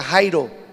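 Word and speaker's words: χαίρω: vez les digo regocijense la palabra regocijar significa en griego se pronuncia Jairo estar alegres feliz contentos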